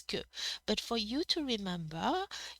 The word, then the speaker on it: que: of the verb m that's why it is ku but for you to